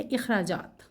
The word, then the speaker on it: اخراجات: نکالنا، خرچ کرنا، لیکن ہم اس کی ادائیگی کرتے ہیں عام طور پر اخراجات کے تلفظ سے، جو کہ غلط ہے. الف کے اوپر ہم زبر ڈالتے ہیں. صحیح ادائیگی ہے اخراجات.